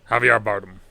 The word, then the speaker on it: Javier Bardem: Javier Bardem.